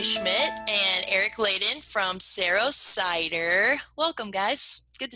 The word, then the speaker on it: Saro: the name come from is it cero or is it sorrow its cero as an arrow and this arrow comes